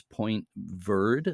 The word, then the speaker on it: Point Verde: The light station we're talking about today is Point Verde, as they pronounce it, Verde, or Verde in French, Point Verde, near Placentia on the west coast of Newfoundland.